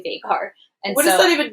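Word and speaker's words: Veigar: Like, the majority of the League of Legends like community that was chatting with me there says it's not Vygar, and they called Vagar.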